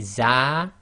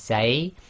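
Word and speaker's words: ز: Next one is the za, or some people call this zay, and this is the Z sound.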